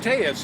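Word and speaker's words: Telles: His family name, pronounced Tellis here along the border, was once synonymous with public service and politics.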